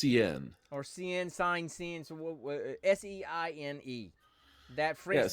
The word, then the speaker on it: Seine: So it is I think it's pronounced CN or Seine, Seine, so Seine.